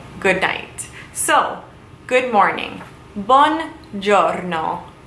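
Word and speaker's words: buongiorno: night so good morning bon giorno one is good journal is morning or day so one jonno good morning it is one word but it is essentially two words put together to create one giorno good morning next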